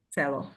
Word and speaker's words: selo: selo. So the stress is still on E, but Mhm.